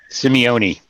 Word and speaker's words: Simeone: out because i just i'll never remember how to say it four syllables yeah all right well